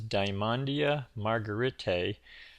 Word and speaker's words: Dymondia margaretae: this is dandia margarite I believe that's the pronunciation um some people call